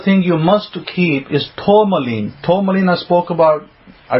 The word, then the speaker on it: tourmaline: T-O-U-R, like tour, like you're going on a tour. M-A-L-I-N-E, tourmaline.